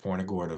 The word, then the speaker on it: Punta Gorda: And that's how you pronounce that, Punta Gorda.